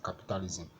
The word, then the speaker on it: capitalism: so car is stress because the word is ending in SM the first syllable must be stressed so the word is the answer is capitalism This Is The Answer